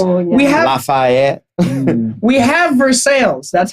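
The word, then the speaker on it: Versailles: it gets worse we have laf we have ver sales that's how it's pronounced but then over to the to the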